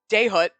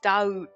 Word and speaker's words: Dahut: And I don't think Dayhut is right. I'm like, wow, you can just see how we bastardize shit in America. Because Daout is like the pronunciation I could find that was like probably more like closer to the original.